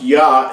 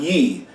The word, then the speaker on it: Yah: now so we know the first part of his name is pronounced yah not ye now i'm saying this